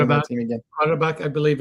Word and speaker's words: Qarabağ: Qarabağ, I believe it's pronounced. So, Qarabağ, okay.